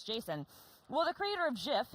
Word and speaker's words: JSON: doing auteur rules, so the creator's like, it's Jason. Well, the creator of GIF, and it is pronounced GIF, has said that it is GIF.